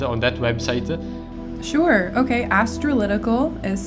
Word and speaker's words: Astralytical: Astrolytical is spelled ASTRALYTICAL. Astrolytical.